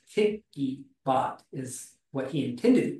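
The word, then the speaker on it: PiccyBot: who developed it and it's actually called picky as in picture so it's picky bot is what he intended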